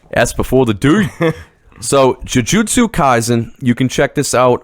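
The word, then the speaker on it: Jujutsu Kaisen: this one try it i can juju stu kaizen very close oh yeah very close that was good jujutsu kaizen oh see the s became before the t and the d in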